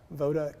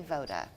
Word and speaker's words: VOD: you said it correctly so you say it VOD Cleaning and Restoration oh you did say VOD okay Voda is the Serbian word for for